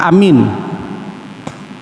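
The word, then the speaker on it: آمين: Hai khutbah cara baca Amin cara pertama kata Imam Nawawi alifnya panjang minyak panjang Amin cara yang kedua kata Imam nawisan baca Amin alifnya pendek mienya panjang Amin cara yang ketiga alifnya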